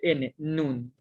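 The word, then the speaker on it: נוּן: Y aquí tengo una nun y una shuru y formo la sílaba nu. Y tengo una nun sofit al final que representa el sonido de N, nun.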